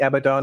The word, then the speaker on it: Abaddon: Do we spray paint Abaddon Abandon or whatever it's called on our expanding on the side of the shell or not? No, we spray paint Abaddon. Abaddon?